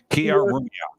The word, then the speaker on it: Killarumyoq: Oh, actually, let's hear your pronunciation. Killarumyoq. Killarumyoq.